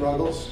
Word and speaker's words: Ruggles: Ken Ruggles. Hope I pronounced that right. You got it. Okay. Good morning. My name is Ken Ruggles, and I represent Spears Manufacturing Company.